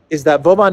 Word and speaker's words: Vovan: The first clown world is Lexus and Vovan. Vovan and Lexus, I believe that's the proper way to pronounce the prankster dynamic duo.